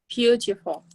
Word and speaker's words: beautiful: Beautiful. Very good. And the Yes. emphasis is on the first part of the word, beautiful.